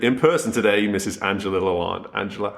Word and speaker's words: Lalande: Angela Lalande.